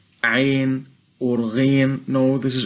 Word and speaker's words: Ayn: And when saying the 2 letters of Ayn and Ghayn, we must complete the harakah of Al-Fathah on them, so the teacher must avoid pronouncing Al-Fathah in a way that it might be heard as Kasrah.